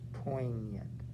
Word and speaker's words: poignant: without feeling the most poignant you don't pronounce the g it's poignant he is so large